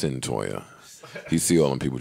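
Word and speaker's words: Cyntoia: think we should do a podcast without highlighting Centoya Brown's release. Mm. I'm getting her name correct. Yes, Savon. Centoya. See, that's why I like Savon. Pronunciation. He on his shit now. No, it's Centoya.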